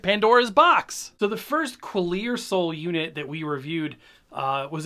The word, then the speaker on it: Qlearsoul: It's Qlearsoul, but spelled with a Q.